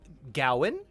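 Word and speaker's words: Gawain: the story of of sir gowen is how they say it in the movie i guess and the green knight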